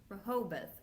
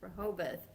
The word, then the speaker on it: Rehoboth: And then on March 15th, now we're back to the pronunciation. How do you say that? Rehoboth. Rehoboth.